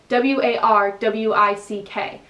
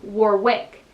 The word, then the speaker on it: Warwick: sure there's a city in england called warwick it's spelled w-a-r-w-i-c-k but i would say as an american warwick but because i'm in england it's warwick same